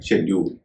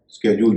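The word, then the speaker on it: schedule: उच्चारण होगा स हां अगर एस के बाद एच आता है एस के बाद सी एच आता है तो कई बार उसका उच्चारण होता है श या स्का जैसे एस सी एच ई डी य एल इसका उच्चारण है शेड्यूल कई लोग इसको स्के जूल भी कहते हैं वह भी सही उचा इसी तरह स्कीम एस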